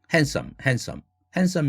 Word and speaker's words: handsome: handsome이라는 단어 handsome이라고 하지 않습니까? 철자는 handsom이지만 마찬가지입니다. 그 단어도 handsome man이라고 하지요. 이제는 사전에서조차도 드 사운드 발음 기호가 없습니다.